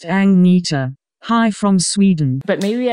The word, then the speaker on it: Agnetha: I'm saying it right Ana is not pronounced Ang it's pronounced angita hi from Sweden but